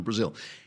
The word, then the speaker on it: Brazile: But now Donna Brazile, right, is that how you pronounce it? Brazil, yeah.